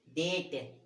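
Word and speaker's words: debt: भी लिखे हुए हैं जहां हम बी का उच्चारण नहीं करते। तो देखो ये डेट, क्या है ये, डेट, बी का उच्चारण नहीं करते, है ना।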